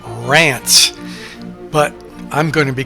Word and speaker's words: Reims: Reims is actually pronounced Rance, but I'm going to be calling it Reims.